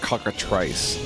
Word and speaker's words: cockatrice: It's pronounced cockatrice, okay? You don't say you're gonna make a bowl full of Reese, do you?